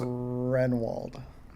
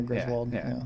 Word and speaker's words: Groenewold: So it looks Renwald.